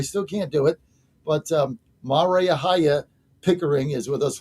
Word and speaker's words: Maria: Maria. I just can't do it. Rhymes with how are ya? How are you, Maria? Is Like with Mar-a-Lago. us. Mar-a-Lago, Maria.